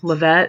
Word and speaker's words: LaVette: Astra okay so um Lavette I think Corvette LaVette um zintilla is the Goddess